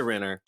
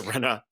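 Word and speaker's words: Rinna: But um I mean that single tier I mean Lisa Rener Lisa Rena rather. I'm sorry I'm I'm I'm pronouncing it like uh LVP would.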